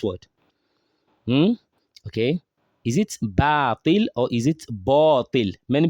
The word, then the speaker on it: باطل: It's not batil, it's batil. When you say batil, you are pronouncing alif as an heavy letter, and it shouldn't be so. It should be pronounced lightly because the letter before it is a light letter.